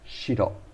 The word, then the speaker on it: 白: What is the Japanese pronunciation for white? Shiro.